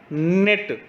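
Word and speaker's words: knit: का साउंड आया है निट इसको हमने पढ़ा निट तो यहां पर के का साउंड नहीं आया के एन आई टी नेट तो यहां पर के साइलेंट है तो हमें क्या करना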